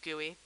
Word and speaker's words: GUI: called a gooey window it's spelled GUI but it is pronounced gooey stands for graphical user